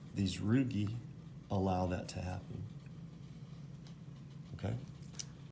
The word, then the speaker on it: rugae: The last structure that I want you to be aware of, these are called the rugae, R-U-G-A-E, right? Remember, in Latin, if it ends in A-E, it's pronounced E, like chordae tendineae, rugae.